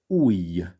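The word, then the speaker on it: ujj: And then we have a word meaning finger, ui. Ui, ui. Now, I don't know about you, but I, I don't really spot the difference in pronunciation there.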